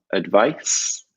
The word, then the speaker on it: advice: in there as well advice for the soft set is noun and advise with as is the firm imagine like a guys